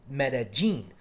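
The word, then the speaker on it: Medellín: Medellin that's another difference it's it's not the yin sound it's more like a j it's Medellin but the slang that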